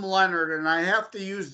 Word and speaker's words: Lenard: it looks like Leonard but it's not it's pronounced Leonard and my little on most social media platforms